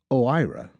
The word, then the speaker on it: OIRA: OIRA, pronounced OIRA, is Washington speak for a little office with a big impact.